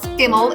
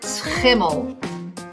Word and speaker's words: Schimmel: So it's not skimmel, it is schimmel. Schimmel.